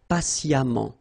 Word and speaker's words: patiemment: So as I told you, even if you write it EMMENT, phonetically it goes like amant, patiemment.